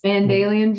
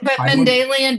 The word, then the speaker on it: Mendelian: Mendelian genetics. Mandalian genetics. Spell that.